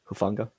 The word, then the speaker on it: Hufanga: can't say Hua how do you say that hufanga funa thank you apologies um and yeah J